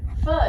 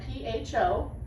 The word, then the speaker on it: pho: And if you're not familiar with pho, it is spelled P-H-O. Some people mispronounce it pho, but it's really pronounced pho.